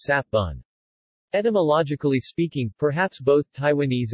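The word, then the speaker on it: 雪文: In Taiwanese, which is a variant of Hokkien that is not influenced by Tagalog, it is pronounced as sap bun.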